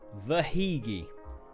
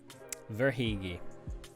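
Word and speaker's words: Verhaeghe: give that to you it is pronounced and this is and I'm going by what I've heard on like commentary Carter vagi The verigi Carter verigi yep verigi my favorite by the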